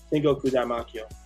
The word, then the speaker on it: Tengoku Daimakyo: It's the most intriguing one besides just Tengoku Heaven, basically, or Daimakyo. That's how you pronounce it. Tengoku Daimakyo.